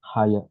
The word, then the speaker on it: higher: higher now higher now don't read the uh the G yeah just higher just pronounce higher higher now okay the demand